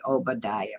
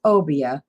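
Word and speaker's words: Obeah: this time just like I wanted to say Obadiah but that is not Obadiah how do you say it meaning obia I didn't think I'd say it right if I said it that way Akon So it's obia a kind of sorcery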